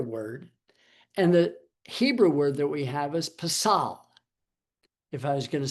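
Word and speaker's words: פסל: and the Hebrew word that we have is pasal. If I was going to spell it for you, be P-E-S-A-L, pasal.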